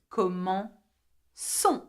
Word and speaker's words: commençons: Nous commençons, okay, and suddenly the C has to have a cedilla.